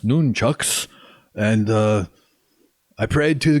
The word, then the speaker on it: nunchucks: sleeve on my wrists then i grabbed my nunchucks it's actually pronounced noon chucks and uh i prayed to god malik for